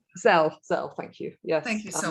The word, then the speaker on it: Zelle: the Venmo or PayPal, or how do you pronounce the other one? It's Zelle.